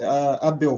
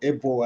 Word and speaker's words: Abel: So my name is Abel, or Ebo as some may pronounce it, and I'm currently studying at the Copperbelt University.